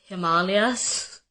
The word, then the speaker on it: Himalayas: Like ashwagandha and Himalayas, it's Himalayas and it's ashwagandha.